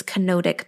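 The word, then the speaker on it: kenotic: It's not nodic, it's canodic path.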